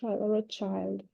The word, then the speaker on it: Rothschild: Child, не child, Rothschild.